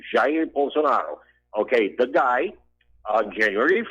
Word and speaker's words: Jair Bolsonaro: Okay, his name is Jair Bolsonaro. He's the correct pronunciation, Jair Bolsonaro.